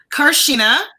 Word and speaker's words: Carchena: there you see your name right did I pronounce it right carshena Carson yes yes can you get to tell